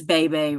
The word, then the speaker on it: Bebe: Oh, I think her name is BB. pronounced it's either BB or Bebe. I think it's Bebe I think Rexha. it is Bebe.